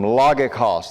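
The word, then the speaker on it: λογικός: Logikos. That word reasonable is logikos. Now the reason why I do that, if you pronounced it the way it looks to me, it would look like logikos.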